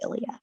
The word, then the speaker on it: Ilya: we're gonna name her Ilya." Or Ilea. And my mom's like, "Well, let's go with the Greek pronunciation. Let's go with Ilya, like Lilia."